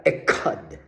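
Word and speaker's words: אחד: Yon ay ekad. Ekad. Okay? Yung pagkabigkas nila, ekad. Parang, ekad.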